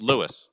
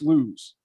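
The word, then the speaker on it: Lewes: words in delaware correctly i would pronounce that town l-e-w-e-s i would read that as lewis it's lewis yes lewis no i've been told it's lose oh i would have thought it was lewis or louise that would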